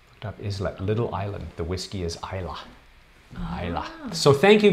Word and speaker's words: Islay: It's Isla is the pronunciation, spelled Islay if you want to just butcher the pronunciation.